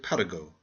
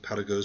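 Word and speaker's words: Paragot: It is the story of Paraggo, the beloved vagabond. Please pronounce his name French fashion.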